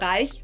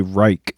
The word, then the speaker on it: Reich: I think in English we say Reich, which I guess is probably just because we don't have the sound, like the CH sound at the end we don't have, so I guess people just make a K, Reich.